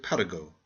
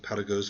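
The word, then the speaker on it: Paragot: It is the story of Paraggo, the beloved vagabond. Please pronounce his name French fashion.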